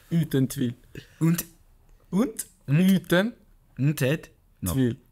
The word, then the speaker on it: Uten tvil: Uten tvil. Oh, in Norway. Uten tvil. Say it one more time. Wait, how? Uten tvil.